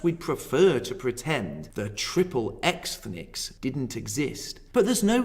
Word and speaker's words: Triple Ethnics: The following is taken from an essay called Triple Ethnics, Jews in the American Porn Industry. And yes, I did pronounce that correctly. Ethnics is a play on the word ethnic and X-rated.